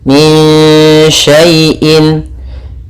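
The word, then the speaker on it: من شيء: Cara membacanya disamarkan ke shin. Min sya, langsung ke sya makhrajnya. Min syai'in, in antum.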